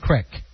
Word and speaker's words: creek: i grew up too c-r-e-e-k how do you say that creek we always said crick yeah so that we're